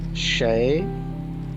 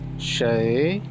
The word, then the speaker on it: 谁: How to pronounce in Chinese language Sheí, Sheí, Ni, Shi, Sheí.